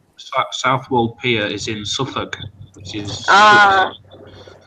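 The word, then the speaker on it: Suffolk: might mean Virginia South world piia is in suuk which is it's spelled it's like it's a bit like noruk but but it's instead it's suffk but it's spelled strangely wow that's crazy Northern edge of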